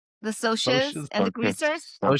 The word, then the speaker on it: Socs: The Soches and the greasers.